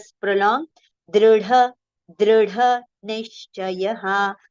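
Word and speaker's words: दृढ: It is dr, dr. Okay? Dru if we say that will be wrong. Dri if you say that will be also wrong. It is dr. But yes, in English actually exact pronunciation is not there. If you write you, it will become dru. If you write I, it will become dri, right? So it is actually in between that pronunciation.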